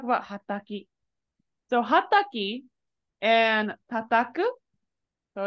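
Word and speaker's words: はたく: So hataki and tataku, so it's hataku right here. These are the same verbs, same kanji, but they're pronounced differently. Tataku, hataku.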